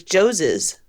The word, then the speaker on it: Joses: It's just like Moses, but it's Joseph's.